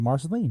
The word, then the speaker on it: Marceline: time kids stand by in I believe it's marcelin Missouri forgive me if I'm pronouncing that town of Walt Disney Marceline yes oh Marceline there you go miners can